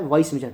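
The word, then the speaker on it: vis major: एक्ट ऑफ गॉड क्या है, वाइस मेजर, ठीक है, विस मेजर जो बोल सकते हो आप, प्रोनाउंसिएशन आपके ऊपर डिपेंड करता है, ठीक है।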